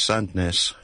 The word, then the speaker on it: Sandness: the road signpost says sandness uh locally pronounced sis but uh it's Melby